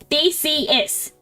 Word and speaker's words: Theseus: big words the ship of Theseus is my favorite analogy it's not a big word it's just Greek it's three syllables they see is you didn't know the